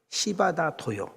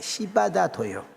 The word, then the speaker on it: 시바다 도요: 시바다 도요. 이름 발음을 잘해야 돼. 시바다 도요.